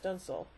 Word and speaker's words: dunsel: The Enterprise is declared the victor, prompting Commodore Wesley to call Kirk Captain Dunsale, pronounced Dunsel.